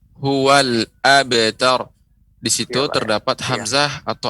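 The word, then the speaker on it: هو الأبتر: Yaitu pengucapan lam tidak boleh dipantulkan. Huwal abtar. Ini enggak boleh. Huwal abtar, akan tetapi harus benar-benar kita matikan.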